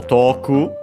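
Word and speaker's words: 遠く: So toku, and by the way, it actually becomes accented on the last syllable, according to the dictionary.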